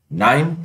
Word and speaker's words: KNIME: KNIME stands for Constants Information Miner and is pronounced as KNIME, where K is silent just like knife.